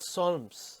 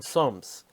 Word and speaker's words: Solms: Braunfels in the county of Solms.